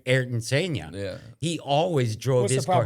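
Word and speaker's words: Ayrton Senna: Erin Sena always drove his What's the proper way of saying that James? Um Artton Senna.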